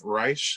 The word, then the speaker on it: Reich: you already have a grammy for uh steve reich is that you pronounce the last name yeah and my favorite